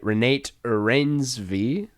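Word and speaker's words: Renate Reinsve: get her name right renate reins v i think is how you pronounce it she won the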